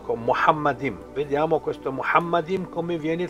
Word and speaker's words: Muhammad: Dico Muhammad, pronunciato così ovviamente. Muhammad, primo uomo a essere